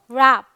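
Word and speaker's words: wrap: जैसे रैबिट आप बोलते हो और यहाँ पर आप बोल रहे हो रैप, तो वो साउंड हल्का सा उसकी वजह से होता है जो W यहाँ पर यूज़ हुआ है।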